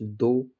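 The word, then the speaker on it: though: जैसे एल ए यू जी H laugh, T एच ओ यू जी एच दो, सी ए यू जी एस टी कॉट, बी ओ यू जी एस टी बॉट।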